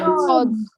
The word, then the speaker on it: fjords: Fjords. Okay. F is silent over there. Okay. Or you can, it is also called as fjords.